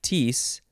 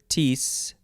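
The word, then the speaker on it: kteis: is from the greek i guess you would pronounce it tees maybe but it is spelled k t e i s it's hard enough to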